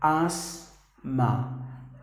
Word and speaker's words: asthma: The letter T and the letter H are silent. You have to pronounce the word as asthma.